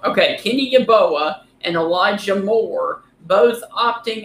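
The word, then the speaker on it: Yeboah: Y how do you say that last name yoa yoa okay Kenny yaboa and Elija Moore both opting out before they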